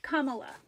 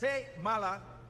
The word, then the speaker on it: Kamala: running mate seemed to really struggle with the pronunciation Harris Cala Harris sayala Harris and Cala Harris Cala Harris Cara Kamala Harris Kamala Harris camet Cala we call that